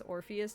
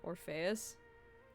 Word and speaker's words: Orpheus: It might be a dialect thing, but also in, like, pronouncing Greek names. Like, his name is Orpheus, not Orpheus.